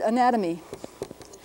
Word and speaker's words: anatomy: This would be in IPA, it would probably be something like This little mark means we're going to accent the next syllable. Na to me. Roughly something like this.